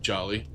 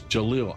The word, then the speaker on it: Jalil: Jolly is um actually I just noticed there's a second L on it. That's Jalil. I am sorry man. I've been saying your name wrong.